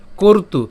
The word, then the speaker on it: কর্তু: এরপর নকশ্চিৎ, এখানে তালব্য পর্যন্ত আমরা উচ্চারণ করছি, নকশ, কশ্চিৎ, কশ্চিৎ, নকশ্চিৎ কর্তু, কর্তু। অর্থাৎ ওই যে রেফ যেহেতু আছে তাহলে উচ্চারণটা কেমন হবে? র হসন্ত পর্যন্ত উচ্চারণ করে তু পর্যন্ত উচ্চারণ করলাম, কর্তু।